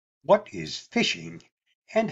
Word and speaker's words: phishing: crimes but in its most basic form phishing pronounced fishing is a scam in which a victim is